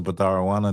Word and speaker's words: Batharawana: Sister Batharawana, that's how you say it.